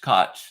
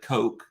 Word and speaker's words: Koch: to most people because the way our family says it, it rhymes with Scotch, but a lot of people say it where it rhymes with, it's like Coke, they like the soda.